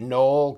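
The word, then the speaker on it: Konoll: This is that, I don't know, I call it Knoll, K-O-N-O-L-L. Because I don't think you pronounce the K, but maybe you do.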